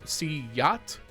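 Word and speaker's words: siuhy: In a closing game of the series, apparently it is pronounced SHOUTOUT. At least that's what someone in the comments said. That it's like a soft Y sound, not a J sound.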